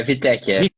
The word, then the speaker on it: Wittek: Guilherme, é Wittek que pronuncia? É Wittek, Wittek, isso mesmo. Wittek, é como se fosse um V, né?